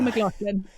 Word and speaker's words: McLaughlin: When I married my husband, I said, I'll change my name to yours if you start pronouncing your name correctly. So it's Rebecca McLaughlin.